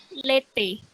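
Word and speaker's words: l'été: Contohnya itu, karena tadi kan pronounce cara ngomongnya itu E, kalimat katanya ada contohnya itu di bawah. Lete, artinya musim panas.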